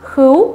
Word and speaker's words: khướu: nhanh nhậu em khướu chữ này cũng có rất nhiều bạn hãy đọc nhầm mình nghe đọc là khướu đúng không Không phải là khứ mà là khướu chưa ạ lắm điều chào